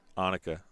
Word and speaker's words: Annika: Is it Annika or Annika? Annika. Well, I was saying it wrong.